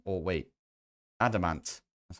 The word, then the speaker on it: adamant: And then we need to make this adamantium, or wait, adamant.